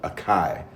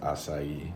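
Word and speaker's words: açaí: Yeah, I would have acai from Brazil flown over on a pterodactyl.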